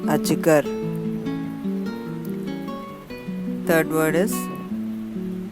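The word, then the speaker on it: अजगर: Second word is a, j, g, r, ajgar.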